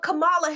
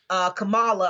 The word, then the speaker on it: Kamala: But Kamala Harris, because that is how you pronounce it. Sorry about that. She says that's the correct pronunciation of her name, but we think that she was probably Kamala up until she decided to run for president.